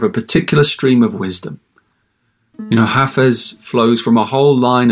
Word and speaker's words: Hafez: And by the way, you pronounce it Hafez, not Hafiz, as I sometimes mistakenly say it.